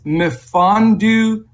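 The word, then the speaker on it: Mfiondu: But it's Mfondu Kabengele is the way it's pronounced, and or pretty close to that.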